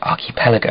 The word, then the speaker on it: archipelago: was narrated by Tilda Swinton and she said archipelago and I was like that all right another